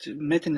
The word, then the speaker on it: Metin: Am I pronouncing that correctly? Yes, but Metin is fine. Mitten, okay.